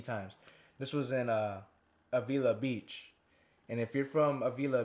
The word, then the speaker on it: Avila Beach: this was in uh avila beach and if you're from avila beach i don't care how you say it they say avala beach you guys are saying it wrong i don't care but